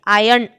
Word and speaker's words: iron: R, that letter R is silent there. Okay, so iron is the proper pronunciation.